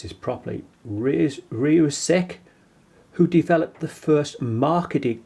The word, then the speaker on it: Rieussec: It was Nicholas Matthew, I've got to pronounce this properly, Rieussec, who developed the first marketed chronograph watch, and this was in 1821.